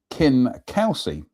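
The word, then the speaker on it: Kingcausie: Anyway, King Kelsey, pronounced Kin Kelsey.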